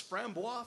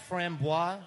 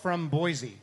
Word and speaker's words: Framboise: a bit horse blankety I always thought that Framboise I always pronounce that from Boise yes yeah and I